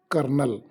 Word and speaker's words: colonel: Same, the word kernel, the spelling of the word kernel is COLONEL, but the pronunciation is kernel.